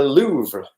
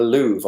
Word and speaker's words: Louvre: da Vinci and it is found in the Louvre museum in Paris of my pronunciation was ok auntie Barbara so it's da Vinci and the Louvre or la Lu if you want to go